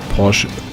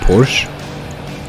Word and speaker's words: Porsche: when you say it in a very clean german you don't pronounce the r it's just posh porsche and as i i just had noticed that english-speaking people would either say porsche which is just wrong